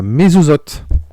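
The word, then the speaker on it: מזוזות: Les poteaux de porte, ça se prononce à mezuzot, des Hébreux, afin que l'ange exterminateur n'exterminât point les premiers-nés hébreux.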